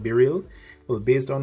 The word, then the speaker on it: BeReal: so as you can see down here it's pronounced be real um not be real or b-roll or be real so just keep that in